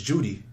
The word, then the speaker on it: Jeudy: said my name is my last name is Judy he said during his media session explaining that that was in reference to the first syllable of his surname people sometimes call me